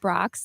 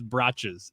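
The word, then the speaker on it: Brach's: said Brock's. Is I pronouncing that right? And I said no, it's Brachas.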